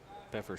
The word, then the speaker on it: Peffer: found out that the p is not silent the f is silent this one foul right back into the net pepper struck out his first